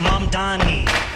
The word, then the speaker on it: Mamdani: The name is Mom Donnie.